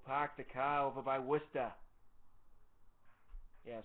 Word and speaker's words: Worcester: the car over by wer yeah so how many people call it Worchester when you write it out like all of them all right so what's